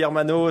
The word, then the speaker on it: Hermann: Salut Herman. Salut Hermano. Salut Olivier. Merci beaucoup de m'avoir sur ce podcast. Est-ce qu'on prononce bien ton prénom ?